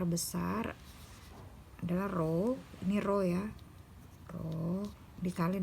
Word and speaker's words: rho: Atau ini dibaca dengan rho. Kita udah pernah belajar ya, udah pernah ketemu nih namanya, dibacanya rho.